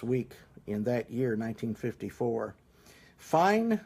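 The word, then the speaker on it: Phyne: Fine Motor Company, I think that's probably the way you pronounce it, P-H-Y-N-E.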